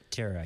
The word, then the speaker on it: Tara: teratara for some reason I forgot how they say it I think it's just Terror right Tara yeah yeah I don't